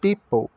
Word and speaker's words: people: de u e pessoas people o p com som de p o i o o o é mudo o p de p o l com o som de ou people E aí a